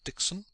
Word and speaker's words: Dickson: But you, my friend Dickson," she pronounced the name in two staccato syllables ever so prettily, "you are different.